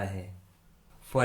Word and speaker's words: half: Rule number 3 में हम सीखेंगे यदि किसी इंग्लिश वर्ड के लास्ट में LK, LM, LD या फिर LF आता है तो उस इंग्लिश वर्ड में L कम्प्लीटली साइलेंट होता है, यानी L का किसी प्रकार से कोई भी उच्चारण नहीं किया जाता है।